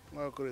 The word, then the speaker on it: Nwaokoro: Nwaokoro is spelled N-W-A-O-R-O-K-O-R-O.